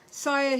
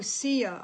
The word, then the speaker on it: Saya: Say it like Sia. Oh, Sia.